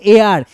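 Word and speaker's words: heir: এটার উচ্চারণ এইচটা বাদ দিয়ে ই আই আর এ আর এটার উচ্চারণ এ আর এই এ আর মানে হচ্ছে উত্তরাধিকারী।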